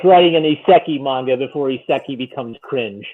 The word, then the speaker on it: isekai: It's like writing an isekai manga before isekai becomes cringe and everybody's doing isekai.